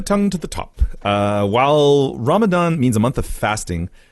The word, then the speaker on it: Ramadan: inflicted deed that is pronounced with the tongue between the upper and lower teeth Ramadan I'm a dun dun okay I'll try my best here to put the tongue to the top while Ramadan means a month of